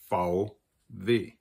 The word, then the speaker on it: VW: Hello, Stephan here with Liquidity with a video about the very confusing two letters, VW, which in German we call VW, which is why they're confusing.